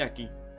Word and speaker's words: aquí: Yo estoy aquí. So do you see the Q? The Q, well, it's actually the same page. The Q always goes with an U, and usually the U is not pronounced ever.